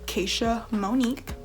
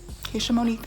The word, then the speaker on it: Keisha Monique: I'm probably not going to start doing an intro, but I will tell you that my name is pronounced Keisha Monique. Keisha Monique, that's how you say it.